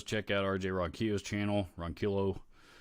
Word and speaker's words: Ronquillo: Ian Nunez says, check out RJ Ronquillo's channel, Ronquillo. I always want to pronounce it Ronquillo, and he actually pronounces it Ronquillo. I think is how he pronounces it.